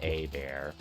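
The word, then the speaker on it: Hebert: So it's spelled Ebert, but apparently it's supposed to be pronounced A-Bear.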